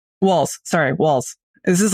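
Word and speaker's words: Walz: your position yes uh my my concern about Walts walls sorry walls this is like when when uh Harris was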